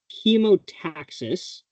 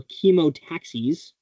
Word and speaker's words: chemotaxis: So chemotaxis or chemotaxis, you'll hear it pronounced both ways, is movement of a